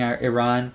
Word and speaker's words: Iran: But then again, I think a lot of people were sore winners about beating Iran as well. People mocking Iran, calling it Iran when the pronunciation is Iran.